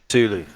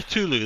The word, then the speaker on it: Cthulhu: Uh first one is How do you pronounce this? It's Cthulhu: The Cosmic Abyss. Cthulhu. Yeah, Cthulhu.